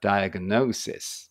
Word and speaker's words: diagnosis: 意味ですこれねこれ音は出ないですね diagnosis No これ O のこのあの発音記号オですねでここが強いから diagnosis ですね diagnos ですあところ